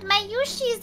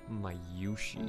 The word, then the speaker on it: Mayushi: Just for everybody out there, it's Mayushi, not Mayushi. How they pronounce it is Mayushi. What? Mayushi is how they pronounce it, not Mayushi. Mayushi. What? You were both pronouncing it Mayushi? It's Mayushi. Oh, with the emphasis.